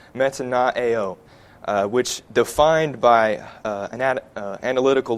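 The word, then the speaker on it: μετανοέω: And our English word repent comes from the Greek word pronounced metanoeo, which defined by an analytical lexicon of New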